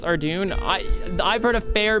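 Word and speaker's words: Ardougne: you know it's hard out here Rock here pronounce ardune I I've heard a fair bit of people pronounced it arjune it's not that uncommon to hear our Dune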